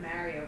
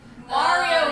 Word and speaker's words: Mario: The lizard guys remind me of the things in Mario Brothers. Mario Like, Brothers. I feel like they could be related. He pronounced it. He calls himself Mario. It's not Mario. Mario.